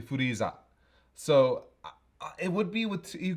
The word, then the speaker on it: Freeza: the It doesn't make the thing is it doesn't make sense for the Japanese to spell it with an I, does it? I mean, Because then it would be Furaiza. well, yeah, in the Japanese it's Furiza. So it's no, it's actually Furiza.